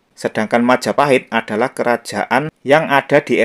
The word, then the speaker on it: Majapahit: ke persoalan nomor dua yang benar Majapahit atau Mojopahit nah yang mengatakan yang benar Mojopahit itu mungkin mereka belajar sejarah itu berdasarkan cerita ketoprak ya kalau di panggung ketoprak memang pengucapannya itu mojoahit misalnya penyebutan seperti ini ya warongkonoto ing projomjoahit nenggih rekyonoatih gajah modo penyebutannya seperti itu nah tapi perlu diingat ketoprak itu pentasnya menggunakan bahasa Jawa baru sedangkan Majapahit adalah kerajaan